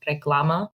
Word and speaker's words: Reclama: It's just Reclama. And it's spelled a little weird.